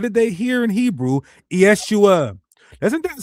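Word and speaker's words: ישוע: Yeshua is a shortened form of how you say the Messiah's name that's commonly used in the New Testament. That's how you say it in Biblical Hebrew.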